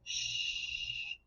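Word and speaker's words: chut: When we do it, we say shh, and it's just an SH sound. The French also make the T sound at the end to stop the sound.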